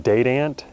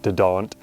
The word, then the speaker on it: Dadant: online or and Order yourself some catalogs from date ant and that is the correct pronunciation it's not de don't um and man Lake man those two are